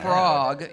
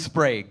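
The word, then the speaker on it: Sprague: now your last name sprog your last name sprog am I saying that correctly sprag is actually the pronunciation but yeah but sprog is good everybody says sprog well that's it's good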